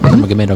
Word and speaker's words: Nurmagomedov: Nurmagomedov. Is that how you say that? Nurmagomedov, yeah.